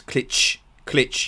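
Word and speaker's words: Klich: In click, it's ch at the end. So it's klitsch, yeah.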